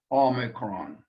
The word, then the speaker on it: omicron: Omicron is a vowel again, and really shouldn't give us any problems, except in the pronunciation of it, that we don't confuse it with the long O sound.